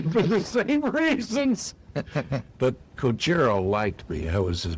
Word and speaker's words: Kojiro: Yeah, Kojiro, as they pronounce it, was on the photo leg magazine.